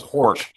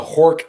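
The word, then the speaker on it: Horch: But if you're making a Are you Is it pronounced Hawk? I was always Hor.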